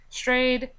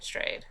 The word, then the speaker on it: Strayed: it's spelled like stade but I'm sure it's pronounced strayed or something nope it's stray strayed stray strayed so normally I do a book recap and